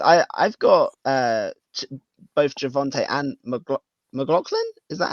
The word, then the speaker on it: McLaughlin: I've got both Javonte and McLaughlin. Is that how you say it? McLaughlin, yeah.